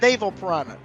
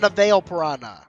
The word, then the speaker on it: Naval Piranha: on your pronunciation skills it's Naval piranha not na piranha 1 minute 37 seconds